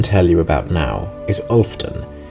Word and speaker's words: Olfden: A settlement I can tell you about now is Olfden, which is spelled like Wolfden, but without the first letter, ostensibly some old joke about killing werewolves.